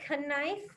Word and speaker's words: knife: or do i say knife i cut myself with a canis knife so it has a silent k so it makes it tricky all right stand up